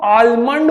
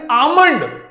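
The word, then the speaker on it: almond: There is one more word which is this, लोग इसको आलमंड बोलता है, इट इज नॉट आलमंड, इट इज आमंड, समझ रहे।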